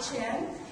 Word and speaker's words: Chien: your world track under close of then chin everybody always gets confused how to pronounce but it's right in terms of forget the phonetics that you see on the screen but it's chin uh CEO and chief strategist of value growth